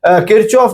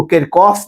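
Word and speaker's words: Kirchhoff: इसको कोई किरचॉफ भी कहते हैं। कुछ लोग इसको किरकॉफ भी जो है वो प्रोनाउंस करते हैं। दोनों ही ठीक है।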